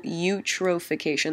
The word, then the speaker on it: eutrophication: a phenomenon known as cultural eutrophication that's how you pronounce that you eutrophication because you've